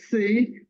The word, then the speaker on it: Seay: don't have a sound you pronounced my name like the alphabet C oh okay C because